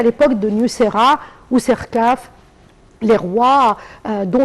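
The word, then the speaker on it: Niuserre: je l'ai bien prononcé, Très bien, Nusera.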